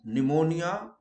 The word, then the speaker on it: pneumonia: Where P is silent, pneumonia, psychology.